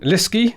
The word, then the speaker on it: Lieske: Lieske, I think is how to pronounce your surname? Yes. Lieske, there we go. Rhymes with risky, I think you said in your notes.